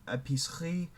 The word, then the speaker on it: épicerie: Épicerie, horlogerie. You just don't pronounce the E.